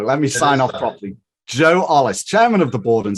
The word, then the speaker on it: Ollis: Joe Ollis. I pronounced that right? Yeah, you did. Good job. Joe Ollis.